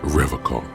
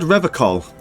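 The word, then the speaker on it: Revachol: He pronounces Revocol with a hard K, unlike other people. Serious question time. This man is no innocent. No one is. You said Revocol.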